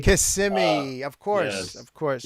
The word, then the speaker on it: Kissimmee: It's pronounced Kissimmee. Kissimmee, of course, Yes.